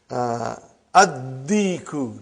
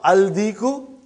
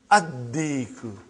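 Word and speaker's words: الديك: Addiku, not Aldiku. Are you with me? Addiku.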